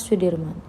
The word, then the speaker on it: Soedirman: dalam memperjuangkan kemerdekaan Indonesia Jenderal besar Soedirman menurut ejaan soewandi dibaca Sudirman Ia merupakan salah satu